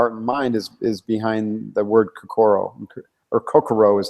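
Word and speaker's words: 心: And that whole idea of merging your heart and mind is behind the word kokoro, or kokoro is how the Japanese pronounce it.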